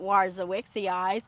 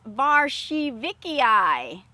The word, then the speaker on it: warzowiczy: pronounce it correctly guys it is not warzo wixy eyes it is varshi vikiai hmm that's something new